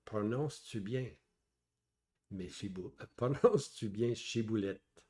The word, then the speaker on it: Shibboleth: Alors il lui disait "d donc chiboulette", mais il disait si boulette car il ne pouvait pas bien prononcer.